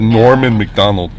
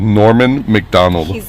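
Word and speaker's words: Norm Macdonald: the episode norman mcdonald that's kind of hard to pronounce that's i think that's why he went with norm mcdonald yeah norman mcdonald because you have to say normand finish with a d and then start over with a and then close your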